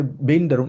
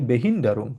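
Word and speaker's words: Behinderung: আমরা এটাকে বেইন্ড ডারুং এভাবে বলি না। আমরা বলি বেহিন্ডারুং।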